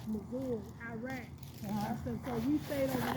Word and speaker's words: Mosul: We did 2 tours, and the last one was the United States said Mosul, but it's pronounced as Mosul, Iraq.